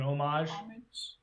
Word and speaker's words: homage: a comic that's probably, what's the word, a homage? An homage. Homage, yes. yeah. Homage Spelled with to an the H, Swamp though.